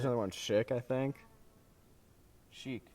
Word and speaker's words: Chic: one chick I think chic chic that's how you say it yeah they're good